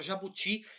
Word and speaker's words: jabuti: como e jabuti né a palavra jabuti ela não tem um acento a sílaba forte dela é ti né Ca ti no